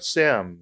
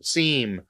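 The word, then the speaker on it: SIEM: security incident event management a sim seem or people pronounce a different way soar security orchestration automation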